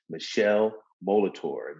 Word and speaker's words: Michele Molitor: And today we have none other than Michele Molitor. Did I pronounce that right, Michele? Yes, sir. Good. You got it all good.